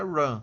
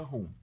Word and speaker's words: run: O nome correto, como é em inglês, é run, tá? Só que ninguém chama run, todo mundo chama rum mesmo, né? Lê como se fosse uma palavra em português, vai lá e pronuncia rum. Todo mundo chama rum, não adianta, tá? Você tentar chamar run só para falar bonito.